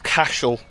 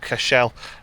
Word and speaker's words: Cashel: I think it's Cashel, not Cashell.